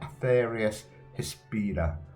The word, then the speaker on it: Atheris Hispida: Not a bad life on lands card, probably better cards out there, but as I said, it's an honourable mention for that Atheris Hispida.